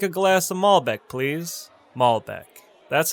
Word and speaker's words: malbec: zinfandel it's pronounced zinfandel next we have malbec malbec i'll take a glass of malbec please malbec that's how you pronounce malbec alright last on our list of